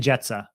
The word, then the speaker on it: Jetsa: Oh, it's Dan Jetsa. Someone corrected me in the comments when we butchered it in the very first video.